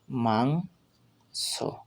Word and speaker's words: মাংস: মাংস, ময় আকার অনুস্বার মাং দন্তেস্ব, মাংস, অর্থাৎ ময়ের সাথে আকার যোগ হয়ে মা হয়েছে আর অনুস্বার তার সাথে যোগ হয়েছে, তাই মাং হয়েছে আর দন্তেশ্বরটা সিঙ্গেল উচ্চারণ হয়েছে, অর্থাৎ এর সম্পূর্ণ উচ্চারণ হবে মাংস, মাংস।